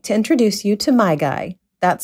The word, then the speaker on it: MaiGai: we'd like to introduce you to my guy that's spelled m-a-i-g-a-i and he's a distinguished older gentleman